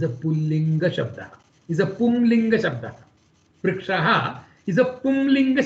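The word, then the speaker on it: पुंलिङ्ग: word can be a Pullingam, which is a masculine gender. It is actually not Pullinga, it is Pumlinga. There is a Anuswaram here, so it is rightly pronounced as Pumlinga.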